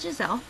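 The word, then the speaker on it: Gizele: would usually think it's not spelled g g-i-s-e-l-l-e it's spelled g-i-z-e-l-e so my middle name is gisele question number two pick three names off the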